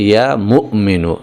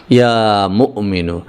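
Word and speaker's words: يا مؤمن: বন্ধুরা আমার এখানে যদিও বাংলায় লেখা হয়েছে মুমিনু। কিন্তু আসল উচ্চারণটা হচ্ছে ইয়া মুমিনু। এখানে মিমের পরে একটা হামজা রয়েছে। একটুখানি ধাক্কা হবে এভাবে। ইয়া মুমিনু এখানে যে কথাটা বলা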